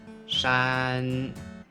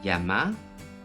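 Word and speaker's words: 山: Il est prononcé en mandarin shan, shan, et en japonais yama pour kunyomi, yama. Ensuite, san pour onyomi, san. Faites attention que la prononciation du mandarin est différente de celle du japonais. Shan, san.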